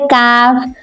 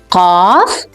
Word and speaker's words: Kaaf: So this is the letter Kaaf. We pronounce it like Kaaf, Kaaf, Ka, Ka, Kaaf, Kaaf, not Qaf, Kaaf. There is a big difference between these two letters. Qaf, Kaaf, Qaf, Kaaf, Qaf, Kaaf.